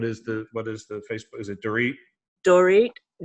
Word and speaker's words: Dorit: Is it Dorit? Dorit, WALLACH. So DORIT. Mm-hmm. And Dorit's last name is how do you pronounce it?